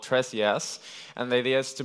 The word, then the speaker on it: Tres: Tres is a Spanish word for ThreeJS, and it's pronounced Tres, and in reference of the library.